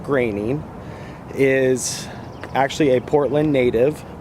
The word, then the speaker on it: Groening: I should and I'll tell you why Matt graining not groaning it is actually pronounced grainy is actually a portland native and he was